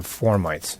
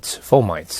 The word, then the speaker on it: fomites: We go back to formites, and then I'll refer again to this earlier part.